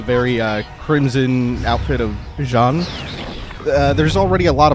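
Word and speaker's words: Jeanne: and call that character jeene or Jean or something because Jean is the correct pronunciation with like a soft J like the J and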